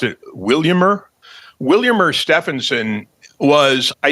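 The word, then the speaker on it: Vilhjálmur: A lot of people say Vilhelmer, but he pronounced it. Williammer.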